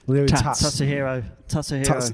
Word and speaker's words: Tatsuhiro: Tatsuhiro. Tats the hero. Tats is the hero.